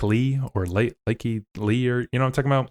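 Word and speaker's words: Lykke Li: Like Lee or Likey Lee, or what I'm talking about? Like Lee, yeah.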